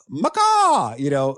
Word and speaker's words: MACAW: One of the others I really liked was well, I always say it like a parrot because you have an icon of a parrot. Yes. In the book. That's right. Macaw, and exactly.